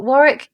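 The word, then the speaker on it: Warrick: sounds really na but Warick kind of rhymes with Garrick I was supposed to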